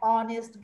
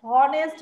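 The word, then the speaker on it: honest: number J, Rita is অ্যান অনেস্ট girl, এটা একটু different, এখানে দেখো এইচ ও, এইচ ও, এখানে এইচটা সাইলেন্ট, ও দিয়ে আমরা স্টার্ট করছি, আমরা কিন্তু হনেস্ট বলছি না, অনেস্ট বলছি, এইচটা সাইলেন্ট, ও দিয়ে শুরু হচ্ছে,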